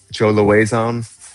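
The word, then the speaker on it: Lauzon: Joe Loazon, and that's a reference to BJ Penn.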